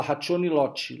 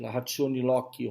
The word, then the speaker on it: ratione loci: Se escreve L-O-C-I, mas se fala ratione loci, ratione loci, ratione loci, que é CI, tá?